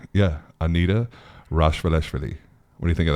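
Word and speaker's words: Rachvelishvili: Is that actually how you pronounce her last name? That's right. Yeah, Anita Rashvaleshvili.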